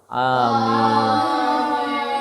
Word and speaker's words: amin: Bacaan aminnya adalah panjang karena amin di sini adalah perkenankanlah doaku. Amin. Jadi bacanya amin. Gitu. Ya. Jangan pendek.